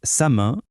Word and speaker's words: salmon: Avec le mot salmon, l'erreur classique, c'est de prononcer le L. Surtout pas. Ici, la règle est claire. Le L est muet. On doit entendre sa main.